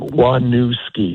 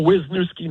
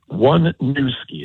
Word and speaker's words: Waniewski: to spell wki no wisnoski no wusi it's it's as I told my daughter growing up it's one new ski it's not two old skis it's one new ski